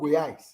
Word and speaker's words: Goiás: In a state called Goiás. How do you spell that in English?